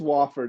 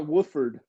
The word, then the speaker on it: Wofford: believe that's wofford yeah it is wofford it's not wooford did i say wilfred